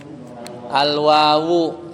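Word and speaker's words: الواوُ: Wawu wawa atau wawi bacanya? Al wawu ya.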